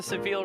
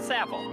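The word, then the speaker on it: Savile Row: I don't know why I always read sevil but it's a it's a reference to savil row and I know that's pronounced savle in London which is known for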